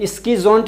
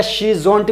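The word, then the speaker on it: schizont: स्कीज़ोंट या शीज़ोंट भी बोला जाता है, लेकिन सही प्रोनाउंसिएशन है इसका स्कीज़ोंट।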